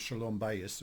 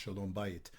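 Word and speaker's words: שלום בית: And clearly she made a point of saying, and look, for folks who aren't Jewish, that concept of shalom bayis, or sometimes pronounced shalom bayit, peace in the home,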